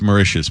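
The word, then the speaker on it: Mauritius: no I know I couldn't I can't even pronounce a third of them what do you mean name them by it's marous by the way whatever Martius okay I am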